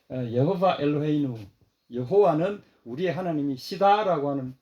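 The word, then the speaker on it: יהוה: 쉐마 이스라엘 여호바 엘로헤이누 여호바 저는 여호바라고 이렇게 발음하는데 원래는 이게 이제 아도나이로 발음을 합니다.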